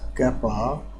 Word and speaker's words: kappa: तो ये proportionality constant हम इसमें कैपा लगाते हैं, इसको कैपा बोलते हैं, KAPPA, इसका प्रोनाउंसिएशन होता है कैपा।